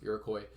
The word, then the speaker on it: Iroquois: looks like iroquois i print i promise it's pronounced iroquois um the iroquois are a group of first